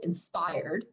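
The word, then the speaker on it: ENSPRD: So it is now called Inspired, and that's spelled E-N-S-P-R-D, stands for Employing Nature's Solutions to Produce Responsible Designs.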